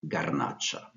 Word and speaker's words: garnacha: of the Southern Ron in Spanish it's pronounced garnacha white grape varieties include